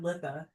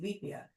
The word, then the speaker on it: Litha: So it's not Litha that I've been saying, Lethia. It is spelled Litha. Lethia.